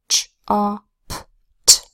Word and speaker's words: chopped: Chopped is spelled with CH that says ch, an O that says ah, two P's that say p, and the ed that says t, ch-op-t.